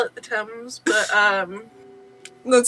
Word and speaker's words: Thames: The body The H is not pronounced. of the Hames. Wrong letter, not pronounced. Technically, they call it the Thames, but That sounds weird.